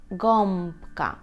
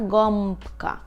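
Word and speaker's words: gąbka: так б п то ми тоді цю букву вимовляємо як ом ом ом ґам ґам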